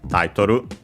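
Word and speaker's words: タイトル: I think we have seen it before and should be accented on the first syllable, yes, as expected, on the ta, Taitoru.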